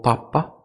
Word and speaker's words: papa: De que usted puede reconocer, por ejemplo, que es papá y no papa en español, un ejemplo clásico, ¿no? En la escritura y hasta en la entonación por la sílaba tónica que o está o no está.